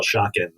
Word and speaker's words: Schocken: which, by the way, in America, we always call Schocken. I just have this weird interference of the German pronunciation of Salman Schocken's name. In Israel, I think, known as Schocken because that's the Hebrew pronunciation of the now separate